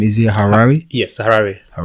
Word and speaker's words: Harare: say the capital city name is it a harare yes sarah all right nice but i'm actually